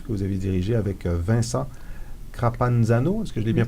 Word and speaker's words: Vincent Crapanzano: Passion politique, qui est un ouvrage collectif que vous avez dirigé avec Vincent Crapanzano. Est-ce que je l'ai bien prononcé?